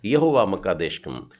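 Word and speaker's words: יהוה מקדשכם: ये है यहोवा मक्का देशुम। हल्का सा क का भी उल्लेख उसमें आता है, जो आधा क के समान उल्लेख किया गया है, वैसा ही उच्चारण करना है, यहोवा मक्का देशुम।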